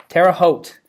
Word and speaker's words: Terre Haute: Or how do you Terre pronounce? Haute. Terre Haute.